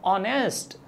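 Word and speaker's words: honest: तो सही प्रोनाउंसिएशन क्या होता है, ऑनेस्ट, क्या कहेंगे हम इसे, ऑनेस्ट।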